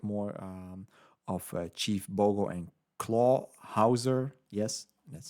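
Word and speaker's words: Clawhauser: So maybe in the next movie we get more of Chief Bogo and Claw Hauser.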